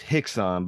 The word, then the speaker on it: Rickson: k s o n in Portuguese RS are pronounced with hes so it's Hixon but it looks like